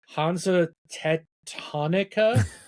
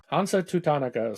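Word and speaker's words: Hansa Teutonica: Um, and I'm probably going to pronounce this wrong, but Hanza Tetonica. Yeah. Did I say that right? Tatonica. Tatonica. Hanza Tutonica.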